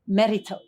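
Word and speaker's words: Mérito: yeah merito how do you say it merito merito yeah we are here now and it's a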